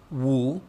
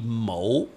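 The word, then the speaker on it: 武: That same character with Cantonese pronunciation would be Mo, okay?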